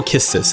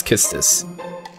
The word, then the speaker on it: Quistis: give me kiss this I'll go kiss this I think it's kissed this because her japanese name pronunciation is just a city or something like that I liked it up